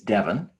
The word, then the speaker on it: Devin: It's spelled Devin, but I was named after the town in England, Devon, Devon. But my mom was afraid that I would be called Devon if she spelled it Devon, which is correct. But I'm spelled Devin, spelled like Kevin.